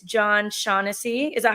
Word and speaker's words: Shaughnessy: And then we have on our show today from SERHANT Agency, it's John Shaughnessy. Is that how I pronounce it?